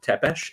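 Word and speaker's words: Țepeș: so when I see Vlad teesh uh is the proper pronunciation U um on official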